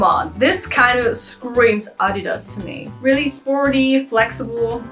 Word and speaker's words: Adidas: I chose is Adidas how do English people pronounce it Adidas whatever it's a German brand I call it Adidas and how could we